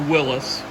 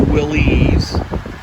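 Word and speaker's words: Willys: and Willis really made a and it is pronounced Willis does not pronounced willies Willis when they design this they're engineers I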